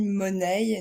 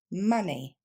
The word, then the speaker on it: money: on passe à l'argent qui ne se dit ni mononey ni money mais bien money encore une fois money